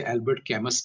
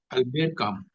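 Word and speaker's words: Albert Camus: हुए हैं अलर काम कई बार लोग उच्चारण गलत पढ़ते हैं उनके नाम की स्पेलिंग से अल्बर्ट कैमस बोलते हैं लेकिन अलर काम काम जीन हा जीन पाल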